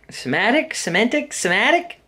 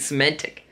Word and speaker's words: Semitic: Semitic? I think Semitic, actually. I've been pronouncing it Semantic.